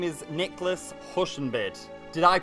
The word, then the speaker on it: Huschenbeth: your name right here your name is Nicholas hushen bid did I pronounce this correctly that sounds pretty good hello